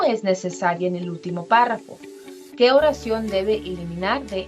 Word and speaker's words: párrafo: Ay, disculpen que no están los acentos, pero sí la palabra es párrafo, lleva acento en la A.